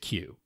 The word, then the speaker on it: Cu: But I think they pronounce it Q.